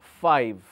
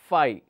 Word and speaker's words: five: the word correct now what is the pronunciation the pronunciation is far if so we say five all right now lot of people so let me make it lower case so this is a pronunciation far if five lot of people pronounce this as Phi when you pronounce this as Phi it difficult to understand sometimes what exactly the person is